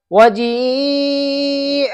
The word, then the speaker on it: وَجِيءَ: دیکھو یہ والا جی ہے، یہ اسے وہ بچے جا سمجھتے ہیں. دیکھو ہجے کرتا ہوں اس کی، واو زبر و، جیم یا مد زیر جی، وجی، حمزہ زبر ا، وجی ا. ٹھیک ہے.